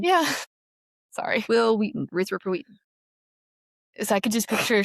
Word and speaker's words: Erythropoietin: And so my brain just Erythropoietin? Yeah. Because it rhymes with Will Wheaton. Yeah. Sorry. Will Wheaton. Erythropoietin.